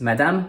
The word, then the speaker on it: Madame: Ms and D are similar to English and the E at the end is silent, according to the rule we just learned with Bonne nuit. So it’s Madame.